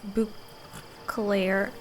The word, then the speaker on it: Beauclair: Well, we've our Beauclair, hands full. That's how you pronounce it.